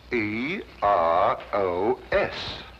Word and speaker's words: Eros: Agregó una H donde no tenía que haber ninguna. - ¿Qué? Pronuncielo como ella lo escribió... ...pero sin la H. E R O S.